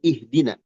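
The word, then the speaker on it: اهدنا: Berikutnya ee poin keenam kata penulis ee tuksaru hamzatul wasli dibaca kasrah atau dikasrahkan. Hamzah wasal min ihdina ya halal badi biha ketika memulai padanya.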